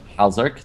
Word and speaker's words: Halzerk: who told me that you should pronounce the name Halzerk. The nab at the end is just an addition or whatever.